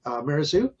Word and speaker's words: Mazereeuw: Anyway, we are thankful for our guest, Bethany Mazereeuw. Rhymes with kangaroo.